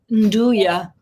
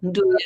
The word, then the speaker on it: Nduja: And Lucas mentioned Nduja. Oh, now, Nduja. He has made some Nduja. Is that how you pronounce it?